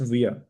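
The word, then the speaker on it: wir: और इंग्लिश में हम करते हैं वी और जर्मन में भी इससे सिमिलर मिलता जुलता ही वर्ड है विया इट्स प्रोनाउंस्ड एस विया इसके बाद है इया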